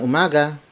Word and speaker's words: umaga: the Filipino phrase for good morning it's magandang Umaga maganda mo Mogga maganda mo mada word for